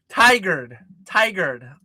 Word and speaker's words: Tigard: So it's not Tigard. Tigard. Okay, there we go.